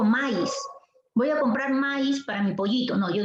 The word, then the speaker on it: maíz: refiero por ejemplo miren aquí tengo la palabra maíz si tengo la palabra maíz la fuerza de